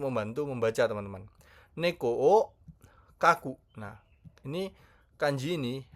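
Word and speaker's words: 描く: Neko oo kaku. Nah, ini kanji ini bacanya ka ya.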